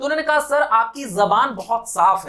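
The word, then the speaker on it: ज़बान: ज, ये जो बीच में डॉट लग गया ज के नीचे, नाउ इट्स प्रोनाउंस ज, ये इट इज नॉट जेड, इट इज जेड, ज। When your tongue touches your teeth, then the sound comes, it is z।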